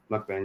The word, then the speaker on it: Mukbang: Mukbang, Yep.